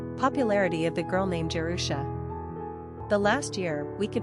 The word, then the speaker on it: Jerusha: Pronunciation, Jerusha.